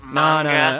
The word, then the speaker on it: manga: give a anymore actually it's pronounced manga I'm just I'm just I'm being nice come